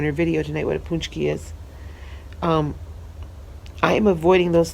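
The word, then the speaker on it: pączki: at the hotel but torch keys are this marvelous huge filled donut and it's spelled P AC z ki but pronounced punch key it's polish it's a Polish pastry Eastern European if they're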